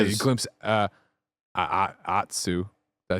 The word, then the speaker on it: Atsu: Atsu. Did I say it right there? Atsu.